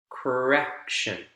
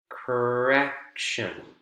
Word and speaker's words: correction: this column next one correction correction correction has three syllables three vowel sounds c a correction middle syllable is the